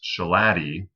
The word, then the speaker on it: Shalati: So remember it's pronounced Shalati. And if you forget how to pronounce Shalati, just remember that it roughly rhymes with beef patty.